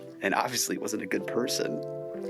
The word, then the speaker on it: Pedersen: So, your last name, do you how do you say it's pronounced Person?